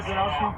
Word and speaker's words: Wojnarowski: Wojnarowski?